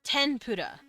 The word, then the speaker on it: tempura: Tempura. Let's use that word. It's technically an M sound. Tempura, but like they really spell it with an N like this.